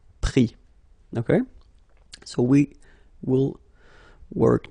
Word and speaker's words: pris: Final S not pronounced, so prendre, pris.